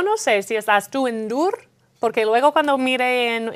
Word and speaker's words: Ndour: sé si estás tú en dur porque luego cuando mé en en Wikipedia yo creo que su apellido no se dice la n Asu Aquí siempre se ha dicho Asu endur as endur se hecho